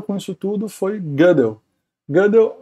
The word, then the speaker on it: Gödel: Gödel é um matemático, não se pronuncia exatamente assim, que esse O com trema, né, é em alemão. Kurt Friedrich Gödel, é um O assim.